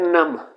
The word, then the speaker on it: numb: Next word है नम। नम again इसे बी को साइलेंट किया जाता है।